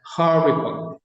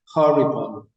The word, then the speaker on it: horrible: español, pero se pronuncia horrible. Recuerden, toda palabra que termine en LE se pronuncia OL, con la consonante que le precede, que en este caso es la B de bueno, por eso digo horrible, horrible, como bol de pelota.